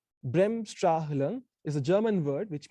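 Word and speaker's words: Bremsstrahlung: emission so the process is what is called brimstra lung it's a very handful word uh it's difficult to pronounce brem stra hilum is a german word which means breaking radiation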